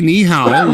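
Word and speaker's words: 你好: Just say nihow like you're you're asking a bit of a question, which you are.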